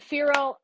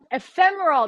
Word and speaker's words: ephemeral: you say it again if fear and emperor ephemeral that's it i knew